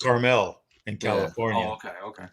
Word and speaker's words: Carmel: caramel so correct yeah like mount carmel you wouldn't say mount caramel and the town in california is caramel yeah or what's pronounced carmel in california oh okay